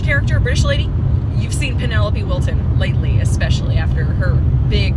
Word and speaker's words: Penelope Wilton: is also the wonderful Penelope will Wilton I always get her name wrong so Penelope Wilton is from Downton Abbey